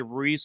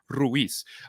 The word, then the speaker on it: Ruiz: If it's in English, a lot of people say Ruiz, almost like Reece, Reese, Angel Reese, Marcel Reese. If you're my mom or you speak Spanish, it's with flair, Ruiz.